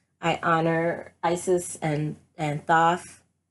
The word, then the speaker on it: Thoth: honor Isis and and Thoth or toast but but I believe he's pronounced so but I feel like